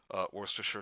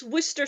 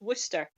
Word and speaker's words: Worcestershire: Worcestershire sauce. It's not. It's Worcester sauce. Yeah. They don't pronounce the Shire. It's just Worcester.